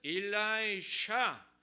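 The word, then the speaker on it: Elisha: 영어로는 일라이자가 엘리야고 엘리사는 일라이샤 SH로 되어 있어요.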